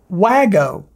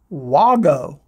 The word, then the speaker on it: WAGO: Well, it's not Wago connectors. It's not even Wago. I thought, well, you know, if I'm mispronouncing Wago, maybe it's Wago. Oh no, it's Wago, like W-A-U-G-O.